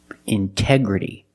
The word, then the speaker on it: integrity: Integrity. The stress is after the NT in these words. So we pronounce the T as a pure T.